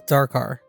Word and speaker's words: Dakar: I think that's how you pronounce it. Dakar? Is it dark? I thought it was Dakar.